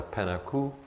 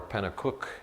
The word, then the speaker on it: Penacook: My ethnic heritage is Anglo, Caucasian, plus Native American, and in the Native American side it's the Penaku, or Penacook as it's pronounced nowadays, which is from the Merrimack Valley in New Hampshire.